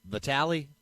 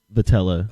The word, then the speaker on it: Vitello: Is it Vitale or Vitello? Vitello. How do you say it? Vitello.